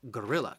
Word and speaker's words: gorilla: but it's not we don't have the ll Dei a sound in English so it's gorilla gorilla and we don't we don't trill the are either it's gorillas it's a gorilla okay when I say